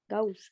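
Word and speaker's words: Gauss: ये जर्मन था। गॉस। गौस। नहीं, गेज गेज। गाउस। Okay. गौस बोलते हैं जर्मन, तो प्रोनाउंसिएशन थोड़ा अलग है।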